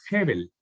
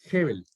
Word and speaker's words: Hebel: de una palabra griega, hebrea, perdón, que es Hebel. Hebel. Que se traduce, que significa aire, respiro, vapor o nada. ¿Cómo Nada. se escribe?